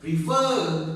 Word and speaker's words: refer: Okay, we pronounce this word refer. So the first syllable and the last syllable, the last is up.